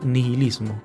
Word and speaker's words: nihilismo: asociarlo con el nihilismo escribe ni h y nihilismo pero se pronuncia nihilismo mucha gente asocia nietzsche